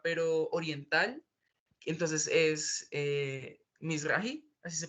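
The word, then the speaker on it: Mizrahi: que es judía pero Oriental Entonces es eh Miss rahi así se pronuncia pero como eso se puede poner a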